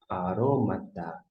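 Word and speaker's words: ἀρώματα: Eu marquei agora aqui, esta é a sílaba tônica. E a gente vai fazer a leitura agora. Arômata.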